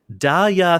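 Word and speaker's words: Da Ya: to say this correctly daa think I'm sexy I learned this week that that is how that title is spelled da a y a think I'm sexy yeah also I hate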